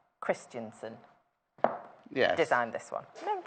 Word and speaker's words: Christensen: say the name properly of the lady Vanessa Christenson Christensen yes designed this one remember just say I